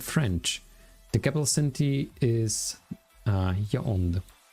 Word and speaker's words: Yaoundé: In addition to the national tongues of English and French, the capital city is Yaoundé. Is there something like a pronunciation of Yaoundé? Yaoundé. It's actually almost how I'm saying it, right?